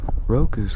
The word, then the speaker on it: roku: never mind never mind roku's kind of a cool name roku in japanese it would just be six but if you pronounce it like roku not doku roku roku is kind